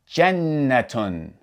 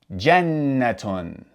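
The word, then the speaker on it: جَنَّةٌ: So, the taa marbuta with tanween dhamma would be pronounced tun. Tun. So, if we pronounce this all together, it would be jannatun. jannatun So, that does it for this lesson.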